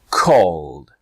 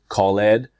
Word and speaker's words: called: now in two steps step one is say the verb in present tense step two is next add the sound for example call called now I know maybe you have been pronouncing this verb called Khaled or maybe the other verbs stop and ask it you're saying it incorrectly but now is your